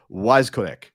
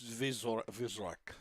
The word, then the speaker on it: Weiskorek: Weiskorek. No, it's Vizorek. Yeah, it's a Vizorek. Yeah, W's in German are V's.